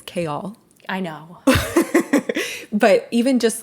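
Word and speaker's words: Chaol: I had heard the name, and it's Kale.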